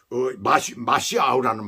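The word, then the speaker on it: משיח: 히브리어로는 마시아우예요. 그런데 메시아라고 얘기를 하죠. 헬라어로 그렇게 얘기를 할 수가 있죠. 이름 속에 말씀을 의지한 신앙. 헬라식 발음으로 그렇게 메시아라고 이렇게 발음을 합니다. 그런데 사실은 마시아우라는 말이에요.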